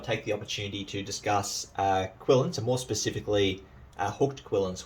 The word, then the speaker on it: quillon: Now, the correct pronunciation is quillin. You'll often hear them referred to as quillions, and that's a throwback to the old style of spelling.